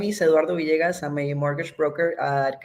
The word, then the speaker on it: Villegas: vasas I forgot they they pronounced the two L's like a y so vas like a Y correct St so we have Eduardo Vias from quaria and they